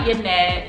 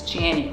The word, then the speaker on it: Janet: So it's not Yanette, it's not Jeanette, it's Janet, like Janet Jackson, like super simple, super simple.